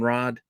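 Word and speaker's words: Radd: someone other than noren Rod I know I say Rod I think it's pronounced Rad but that just seems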